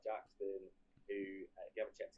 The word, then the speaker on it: JXDN: Yeah, Jaden. But you'll notice it's me.